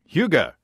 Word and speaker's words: Hygge: I have 2 packets of, and Matt, tell me how to pronounce Hygge. Hygge. I have 2 packets of the Hygge, which is a lager yeast.